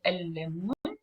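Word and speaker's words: الليمون: So if I want to say the lemon, I say el-lemon and el-lemon. So I stress on the la and I don't pronounce it here.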